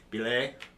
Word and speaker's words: Bilé: with that and uh again this is the bile Drive is what people are going to call it's actually pronounced Bay but no hey bile Drive is good for